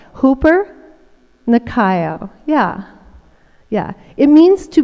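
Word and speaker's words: ὑπερνικάω: new testament there is a word that is pronounced hooper nakayo hooper nakayo i love it it sounds good i love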